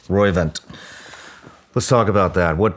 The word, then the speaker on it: Roivant: Roivant. Roivant.